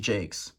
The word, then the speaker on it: Jacques: And yes, it is pronounced Jacques.